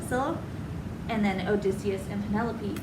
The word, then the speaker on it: Scylla: Scylla. Scylla.